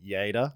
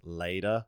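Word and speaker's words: Lleida: saying your town wrong it's spelled l l e d a and as an English speaking person I would say later ler yeah but it's y y yeah how do you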